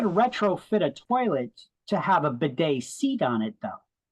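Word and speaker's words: bidet: in on that bed b i d t a Beday that's how you pronounce that it's a European thing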